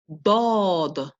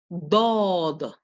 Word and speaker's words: dod: Its pair is called dod, dod. Say that, dod. Very good. It is represented with a letter D with an underline underneath. Okay. It is made by pressing your tongue against the palate and quickly releasing.